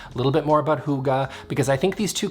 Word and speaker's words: hygge: and it's called hygge it looks like haiki don't make that mistake it's hygge i think um and